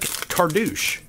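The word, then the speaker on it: Cartouche: go cou like it's it rhymes with douche it's like cardou let me get some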